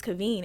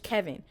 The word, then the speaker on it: Kaveen: why am I saying my name is Kaveen and you want to say to the whole church, Kevin?